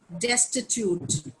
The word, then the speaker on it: destitute: Destitute. जैसे institute होता है वैसे ही. Yes, tell me, Sushmita.